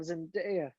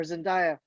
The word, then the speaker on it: Zendaya: the better performance of zendaya but or zendaya whatever her freaking name is but zendaya you said it right the first time this is her best